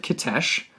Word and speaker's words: Kitezh: city yeah mm-hmm and we are going to pronounce it Kadesh if anybody out there listening has a different pronunciation if you're Russian or something let us know we are using that pronunciation because we heard the director Werner Hertzog pronounce it that way because he did a